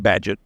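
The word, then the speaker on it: Bagehot: badgett it's spelled b-a-g-e-h-o-t but the the British pronounce it badgett and he said that the purpose of a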